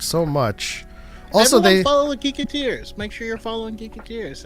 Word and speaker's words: Geeketeers: Like, would they be like geeketters or something? Maybe geek eaters.